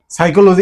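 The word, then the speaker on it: psychology: সাইকোলজি এস দিয়ে বানানটা হওয়ার কথা ছিল।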